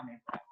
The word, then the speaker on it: amoeba: Kalau di Indonesia misalnya Soekarno, O dan E itu nanti dibaca U. Tapi kalau dalam bahasa Latin itu beda lagi. Nanti A tulisannya amoeba, O dengan E itu dibaca E. Kalau bahasa Latin seperti itu. Jadi tetap bacanya ameba.